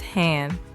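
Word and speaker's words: 한: This block reads Han. It is made of 3 letters stacked into one tidy square, an H sound, an A sound, and an N sound.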